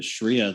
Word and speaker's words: sharia: legal system and uh please correct me if i'm pronouncing sharia incorrectly um no you're it's correct it's correct okay thank you um